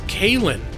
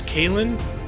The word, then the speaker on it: Kalen: It's Kalen. That's how I pronounce that name, is Kalen. It's Celtic Gaelic.